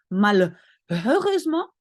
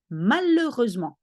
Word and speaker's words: malheureusement: The H in French, you never pronounce. So you don't say malheureusement, there is an H, but you say malheureusement.